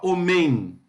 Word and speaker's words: homem: Homem, você fala homem ou fala homem? Então, a palavra é homem, a sílaba tônica é o, certo?